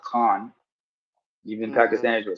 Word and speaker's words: Khan: By the way, the last name is pronounced Khan.